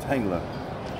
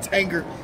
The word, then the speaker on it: Tanger: man where we at man we at um tangler tangler I say it right Tanger T Tanger Tanger Tanger Tanger I think Tanger